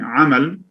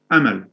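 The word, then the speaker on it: أمل: sounds yeah they're in so instead of saying amal the tendency is to mispronounce it as amel uh the the emphatic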